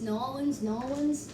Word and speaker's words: New Orleans: the largest city is new orleans or new orleans as the people call it there how that actually sounds like it's like an echo of new orleans like nolan's nollens nolan's okay no one's